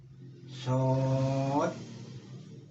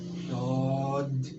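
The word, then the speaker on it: Ṣād: Nah, itu bacanya itu harus shad. Nah, ada dalnya yang di sukun. Cuma jangan diod, jangan itu ya. Pokoknya ada da huruf dal yang disukun gitu. Sod. Nah, gitu aja. Jangan shod.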